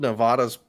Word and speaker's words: Nevada: in the last election right did they extend Nevada's polls or something it's Nevada please say it